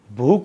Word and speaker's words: भूख: अब बुक, अब उच्चारण में भी देखिए शब्द क्या है ये, बुक, बुक नहीं होता है, क्या होता है, भूख होता है, कि तेनु भूख लग जावे, तो भूख में ख होता है, भूख।